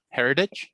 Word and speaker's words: heritage: Heritage. Yeah. Oh, the way we pronounce it?